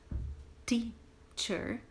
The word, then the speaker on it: teacher: Começamos com teacher, prestando bastante atenção na pronúncia desse primeiro T. É a língua atrás do dente fazendo teacher e não teacher.